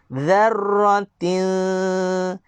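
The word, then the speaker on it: ذرة: Huruf zal juga sama, makhraj dia dengan cara keluarkan lidah supaya kita bezakan dia dengan huruf zai. Nampak tak? Dzarratin.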